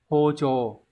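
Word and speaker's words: 包丁: Chữ bao thì đọc là hô, các bạn phải loại được một với lại bốn, nhưng vấn đề là cái chữ đằng sau là chữ đinh, thì các bạn thấy là vấn inh thì thường sẽ có trường âm, như vậy sẽ đọc là chồ, hô chồ.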